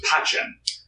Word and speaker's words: pacem: In Latin, there's no soft C. But how it's pronounced between the Catholic church and the educational world is different. A C in... ecclesiastical Latin or vulgar Latin is like a CH, so it's pacem.